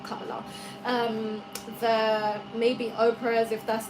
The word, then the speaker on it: Kamala: All those women you see out there, like Michelle Obama, the Kamalas, how you say it, Kamala, not Kamala.